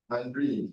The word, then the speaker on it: Andre: How do you pronounce that? Is it Andre It's or spelled Andre? Andrea, but the owner of the name says it's Andre.